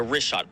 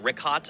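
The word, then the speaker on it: Richat: The rishot. R I C H A T. It's worth mentioning that. Yeah. In the first couple uh I just want to say it's Rishot. I used to call it Rickot.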